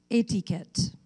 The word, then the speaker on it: etiquette: Your word has two pronunciations, etiquette, etiquette.